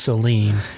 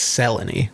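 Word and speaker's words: Selene: I think it's just Seline yeah it's spelled like it would be Seline It's s e l e n e they say it's seleny yeah which like I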